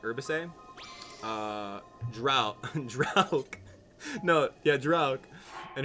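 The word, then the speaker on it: Urbosa: Mifa, Urbisa, yeah, and Drauk. It's Mifa, Urbise. Sorry, Urbise. Like herbicide, but Urbise.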